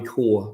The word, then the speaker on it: corps: I said Corps, Army Corps. So Corps. Okay.